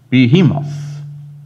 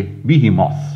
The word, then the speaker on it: Behemoth: about the Leviathan and he talks about Behemoth or other say Behemoth and I had to check that out in the pronunciation dictionary and both pronunciations apparently are correct and some say wellison